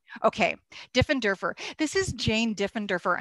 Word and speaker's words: Diffenderfer: to make sure I'm saying it correctly it's diffenderfer okay diffenderfer this is Jane dend derer and I am